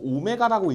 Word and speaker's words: 오메가: 두 복소수 z랑 오메가에 대해서 얘들아, 저거 오메가라고 읽는 거 알아? 그죠? 가끔 w라고 읽는 친구 있는데 w 아니야. 오메가야.